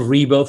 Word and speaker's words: Ribo: My name is Ribo for the ones that are only listening and not watching this video and they don't see the visuals here on the screen.